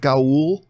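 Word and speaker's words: Ga'Hoole: uh legend of the guardians the owls of gaul i believe that's how you pronounce it i talk about the same about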